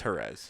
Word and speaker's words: Jerez: Jerez, Get my Spanish pronunciations correct. I was there. It's Jerez.